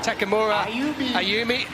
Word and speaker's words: Takamura Ayumi: So it would be Takamura Ayumi for the Japanese athlete, is how it is pronounced.